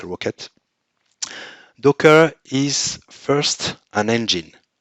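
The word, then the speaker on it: rkt: Mesos, or LXC or LKT, which we can pronounce Rocket.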